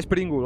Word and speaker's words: Sprengel: estación para decir que mi nombre se pronuncia springle gracias sprengel spr no cargues vale